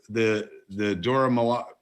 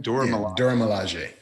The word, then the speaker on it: Dora Milaje: But as you said before, we got to see, the Dora Milaje. How do you say it again? Dora Milaje.